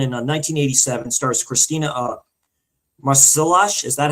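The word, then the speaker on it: Marsillach: Stars Christina uh Marcelash. Is that how you say it, Darren? Marshall is Yeah, Marcelac.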